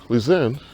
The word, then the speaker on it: Lisanne: Or Lisanne, or you pronounce it in Dutch. So, Lisanne was the one who